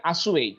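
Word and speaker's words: assuage: এই যে দেখেন এই উচ্চারণটা করেন আপনি, আপনি হয়তো করবেন অ্যাসুয়েজ, ঠিক আছে, এটা আসুয়েজ, উচ্চারণটা হলো আসুয়েজ।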